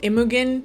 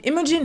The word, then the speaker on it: Imogen: so ago i went on a whole like immugan imogen how do you pronounce that name imogen heap throwback situation because what happened was i